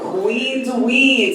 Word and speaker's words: queenDuin: As DJ Lo said, but I go by queenDuin. So queen rhymes with Dween, y'all, okay?